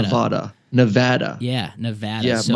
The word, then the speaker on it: Nevada: And I also got to pronounce it's Nevada, not Nevada.